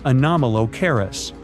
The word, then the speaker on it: Anomalocaris: The name is a bit tricky to pronounce, so I'm not going to. Okay, it's Anomalocaris.